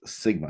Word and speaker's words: sigma: And whenever we do a standard deviation for a population, we use a Greek letter that represents S, and it's pronounced sigma.